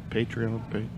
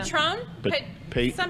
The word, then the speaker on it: Patreon: Right, but have you tried the, how do you pronounce it? Patreon, you know. I have no idea. Patron? P-A-T-R, yeah. Patreon.